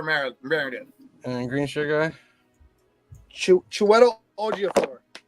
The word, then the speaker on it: Chiwetel Ejiofor: Chiwetel Ejiofor. How do you spell that?